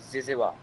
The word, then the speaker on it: zyzzyva: अच्छा, प्रोनाउंसिएशन क्या है इसकी, ये भी बता दो। जिज़वा।